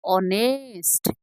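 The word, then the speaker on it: honest: आर होनेस्ट नए are pronunciation केमती उच्चारण कौन ऑनेस्ट कौन हुए ऑनेस्ट ए ए हो अ प्रोनाउनला एच और छले प्रोनाउंसला को ओ ऑनेस्ट हैला एच कौन था साइलेंट था एच हम को था साइलेंट है तो ए को अनऑनेस्ट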